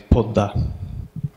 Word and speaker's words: Padma: down to low key and Padma the river in Bengali is pulled up so moving on to